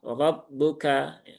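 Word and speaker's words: رَبُّكَ: Kemudian rabbuka ya, roknya berharokat fathah berarti dia dibaca dengan tafkhim ya. Ro. Ar-ro rabbuka. Caranya sama dengan menaikkan pangkal lidah.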